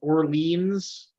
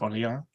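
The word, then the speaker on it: Orléans: I believe that's pronounced Orleans. Well, that's how we pronounce it here. We have an area of Ottawa that's called Orleans, and that's what we. But this is actually France, so it's Orleans. Yeah.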